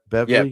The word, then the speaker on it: Beverly: Be how do you pronounce that? Be Beverly.